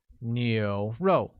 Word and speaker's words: 牛肉: Next we have beef, which translates as 牛肉, with a mid-rising tone on U, a falling tone on O, making it 牛肉.